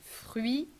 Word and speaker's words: fruit: neutral E, French E, fruit with the tough R, closed U, and T that you do not pronounce, fruit, pressé, again the French R.